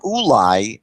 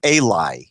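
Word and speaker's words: אולי: So the word ulai can be pronounced here as Eli.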